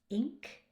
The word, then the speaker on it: ink: For others, it is a problem, but that i ing Here the ing, it's not it's not an i sound. Ink. And what else is there here?